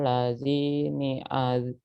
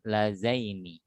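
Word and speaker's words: اللذين: Arinal lazini azilan. Hati-hati, bukan lazi, ini lazaini.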